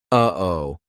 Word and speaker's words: uh-oh: That uh-oh is a perfect example of how to use the glottle stop. We aren't making the same mouth formation like we do for the true tea or even the held tea. It's coming from our throat.